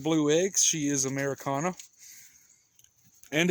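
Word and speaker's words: Ameraucana: blue eggs she is Americana and it is pronounced Americana and not arakana if you guys watch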